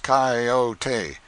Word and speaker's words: coyote: rightly this latter was the regular coyote pronounced cayote of the farther deserts